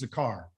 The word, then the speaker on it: zakar: The word remember means zakar. Okay. That's how you say it in Hebrew, zakar. Okay. Like the car, zakar.